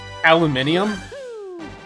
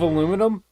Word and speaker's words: aluminium: I've been watching a sculpting channel on YouTube lately, and I believe he's Canadian, and he pronounces it aluminium instead of aluminum.